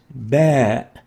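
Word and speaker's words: باء: as a labial letter the bear is named bear as in battery bear battery bear so pronounced and named bear next is the tab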